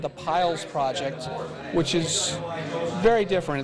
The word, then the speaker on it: Piles: Pilots Project. Piles, like piles of stuff.